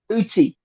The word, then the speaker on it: Ötzi: about his name is Etsy and it's actually spelled with an O but it's a German pronunciation it's the o with the two dots over the top of it and it's pronounced I uty okay yeah it's it's